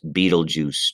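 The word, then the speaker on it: Betelgeuse: that are significant and this has a very odd spelling but it is pronounced beetlejuice just like the old movie in the 80s beetlejuice please remember beetlejuice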